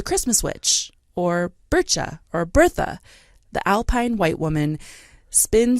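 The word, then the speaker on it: Berchta: I missed no just Bertha oh okay Birch burcha is another way to say her name but um fra Petra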